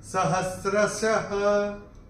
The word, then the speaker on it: सहस्रशः: और ये जो विसर्ग आ रहा है चरण की समाप्ति पे, इसलिए इसका उच्चारण केवल और केवल ह ही होगा। सहस्रशः, ऐसे करके आएगा।